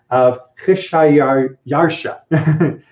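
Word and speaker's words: Xšayāršā: Kheshayarsha is apparently how the Persians would have pronounced the emperor that we're talking about.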